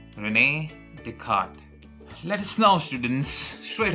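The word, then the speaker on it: René Descartes: and his name was Renee deart it's difficult to pronounce but this is how the French used to pronounce it Renee deart let us now students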